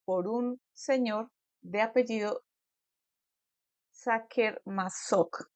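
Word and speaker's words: Sacher-Masoch: un señor de apellido saker masok creo que se pronuncia Así es un poquito difícil de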